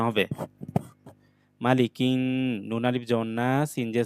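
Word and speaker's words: ناس: নুন আলিফ জবর না, সিন জে সি, নাসি, জবর পর আলিফ, এটা টান হবে, নাসি। কুল আউযু বিরব্বিন নাস। বানান করার সময় আমরা এটা নাসই পড়েছি, আবার মিলিয়ে পড়ার সময় নাস পড়বো।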